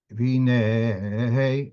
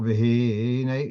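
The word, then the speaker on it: וְהִנֵּה: So for looking at the pasuk here, V'hinei, it's not v'hinei, it's v'hinei, that's mil-ra, which means at the end, at the last syllable, that's where the stress is.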